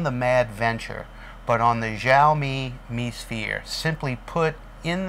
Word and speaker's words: Xiaomi: Starts with an X, but it's pronounced Xiaomi. The camera first premiered as the Xiaomi Mi Sphere, M-I-S-P-H-E-R-E.